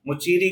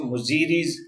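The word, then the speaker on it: Muziris: मुचीरी की बात करें एवरीबॉडी तो बहुत सारे लोग इसको मुजीरीज की जैसा भी प्रोनाउंस करते हैं।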